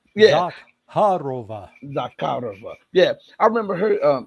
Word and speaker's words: Zakharova: So he is saying in words, and I remember hearing the foreign ministry spokeswoman, I can't pronounce her name, Zarakova, whatever. Khodorova. Yeah. Zakharova.